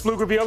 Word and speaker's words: Pflugerville: Hey, McNeil versus Pflugerville, and the guys from the land of the silent P made some noise.